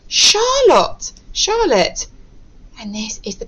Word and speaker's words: Charlotte: Okay, we are still pronouncing our letter CH here as sh.